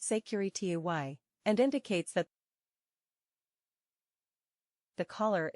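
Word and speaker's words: sécurité: safety signal consists of the word securite pronounced secury T and indicates that the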